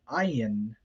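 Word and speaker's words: ayin: between and then um the letter ayan is an interesting case because it doesn't really have its own distinct sound um like it can easily be mistaken for an aleph in fact in some manuscripts it is um but originally it had a fricative sound it would have sounded like an ah sound and those of you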